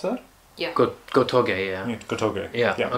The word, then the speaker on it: Gotouge: Is that how I pronounce that? Yeah. Gotouge, yeah.